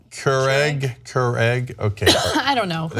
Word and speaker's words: Keurig: What, am I saying it wrong? Keurig? What am it's I? Like I'm saying cure an egg, I think. Keurig. Keurig.